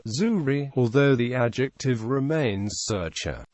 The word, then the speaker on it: Züri: is in zeric German the name is pronounced without the final consonant zurri although the adjective remains